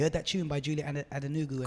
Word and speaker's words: Adenuga: You heard that tune by Julie Adenuga and Called Reuben. Spherical. Called Spherical. Is it Adenuga? No. Adenuga. What? Second name. Just say it. Julie Adenuga.